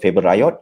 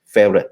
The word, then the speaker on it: Favoriot: So this is a story that we always tell you, but people don't call it Favoriot or Favoriot. You pronounce it as a favorite.